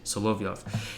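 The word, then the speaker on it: Solovyov: how you say it so love you off he became a type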